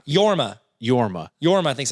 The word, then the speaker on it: Jorma: schaefer uh and then it is jorma is that how you say it i think that's how that's technically yorma yorma yorma i think's